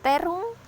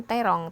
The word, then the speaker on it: terung: Terung, hijau, kata terung itu juga sudah baku. Bacanya memang sering terong, tapi kebakuan katanya di KBBI adalah terung.